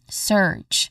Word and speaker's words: surge: Following this is like you can picture it out as the spelling e r. You just say it like that. Surge. So it you try to hold the vowel sound here a little bit longer because as you